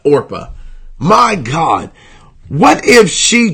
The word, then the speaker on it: Orpah: even pronounce oppa so imagine that that that your name is pronounced wrong so much that people call you Oprah instead of Orpah my god what if